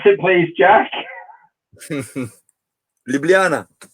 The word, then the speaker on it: Ljubljana: home town or city I think it city pronounce it please Josh Ljubljana Ljubljana Ljubljana okay yeah and then once it will be